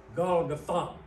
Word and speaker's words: Golgotha: of a skull, which in Aramaic is called Golgotha, or Golgotha. Really, I looked it up, and the correct pronunciation is Golgotha.